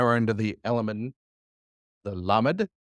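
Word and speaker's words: למד: Now we're into the element, the lamed. Lamed, which makes what sound? La.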